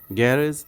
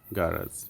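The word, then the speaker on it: garage: গ্যারেজ এবং গারাজ দুটোই correct. গ্যারেজ হচ্ছে ব্রিটিশ প্রনাউন্সিয়েশন, গ্যারেজ হচ্ছে আমেরিকান প্রনাউন্সিয়েশন।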